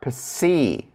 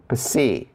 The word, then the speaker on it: psi: So for the labials, the fricatives are psi, psi, psi. So if you hear that p sound and that S to it, psi, psi.